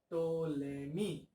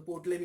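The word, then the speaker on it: Ptolemy: टोलेमी, वो P silent है, तो पोटलेमी हो जाता है।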